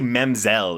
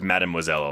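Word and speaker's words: Mademoiselle: I'm so glad that you pronounced that, but I I say Memoiselle instead of Madmoiselle a lot, which I thought was really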